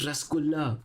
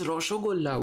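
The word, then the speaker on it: রসগোল্লা: No guys, the answer isn't Rasgulla. Besides, it's Roshogolla. What are you even saying?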